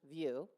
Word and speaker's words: VUU: Janine also serves the Greater UU movement as a co-host for the VUU, that's pronounced View, the weekly UU talk show in podcast.